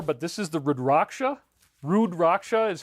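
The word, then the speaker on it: Rudraksha: Rudracha is how you pronounce it and it's a Hindu uh it's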